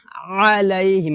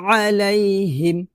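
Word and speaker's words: عليهم: ন আলাইহিম কি হবে আলাইহিম কারণ এটা হচ্ছে আইনটা আমি আগেই বলছি গলার মাঝখান থেকে চাপ দিয়ে একটু কষ্ট উচ্চারণ করতে হবে বেশি বেশি চর্চা করুন ইনশল্লাহ হয়ে যাবে আবার বলি আলাইহিম আলাইহিম ওয়ালা এখানে আমরা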